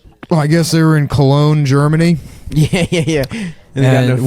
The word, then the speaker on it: Cologne: Anyhow, so we're watching the one where, I guess they were in Cologne, Germany, Yeah. and which one of them pronounces as colon.